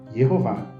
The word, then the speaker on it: Jeová: depois no texto massorético nós conhecemos a pronúncia como Jeová Temos vários Versículos aí